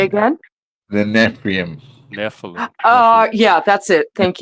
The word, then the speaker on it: Nephilim: The The Neprium. Say Neprium. again? The Neprium. Nephilim.